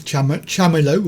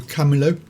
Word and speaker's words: Chamilo: It's Chamilo, or Camilo, depending on how you say it.